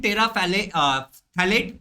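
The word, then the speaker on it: terephthalate: देखो पॉलीइथिलीन टेरा थैलेट polyester, polyethylene टेरा थैलेट polyester, pH यहाँ पे साइलेंट है।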